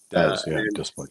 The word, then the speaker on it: Des Plaines: Then the next day, we're going to Des Plaines. Is that how you say it? Des Plaines. Des Plaines. Yeah. Des Plaines.